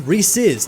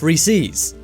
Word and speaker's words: Reese's: Reese's this one is kind of like the Jif or gif one is it has a correct answer the correct way to say it is Reese's not Reese's and 58% of people